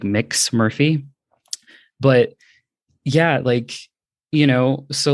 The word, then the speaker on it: Mx: And we didn't have a gender neutral prefix until more recently, which is MX, which is pronounced like mix. So you'd say like mix Murphy.